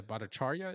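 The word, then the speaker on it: Bhattacharya: J Bichar, I don't know how to pronounce that. Bacharia. Yeah, Bacharia is it.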